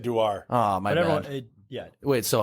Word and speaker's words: Dewar: You said Dewar.